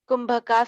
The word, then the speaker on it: Kumbhaka: So Kumbhak, you can write it down K U Kum KUMBHAKA Kumbhaka, somewhere it's the pronunciation, somewhere it's called Kumbhaka or Kumbhak.